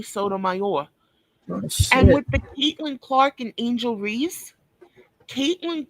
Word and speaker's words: Sotomayor: This one's Sotomayor. That's how he says his name is, Tommy Sotomayor.